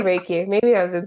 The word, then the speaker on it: Reiki: and then you also do Riki is it riky or Reiki Reiki I say raiki maybe I've been saying it wrong my whole